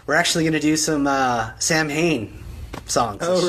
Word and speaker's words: Samhain: Or Samhain, if you want to pronounce it the way that I think Danzig pronounces it, or whatever, or how it is supposed to be pronounced.